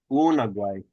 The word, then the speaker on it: unagwai: Yeah, this word unagwai, you lengthen that first syllable. It's unagwai. Unagwai.